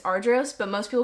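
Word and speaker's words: Argyros: I've heard everyone say the funniest things. Argos, Argios, Agios. It's so funny. It's Ardros, but most people call it AF.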